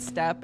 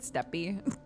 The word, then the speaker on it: Steppe: Yeah, some people in this game pronounce it step and some people pronounce it steppy.